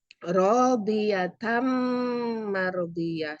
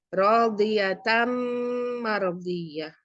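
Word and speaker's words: رَاضِيَةً مَرْضِيَّةً: Ini rodiyatan ketemu dengan mim mardiyah. Jadi ini nunnya ini masuk ke mim. Bacanya rodiyatam mardiyah. Jadi mim, bukan nun lagi. Dimasukkan dan mendengung. Radiyatam mardiyah.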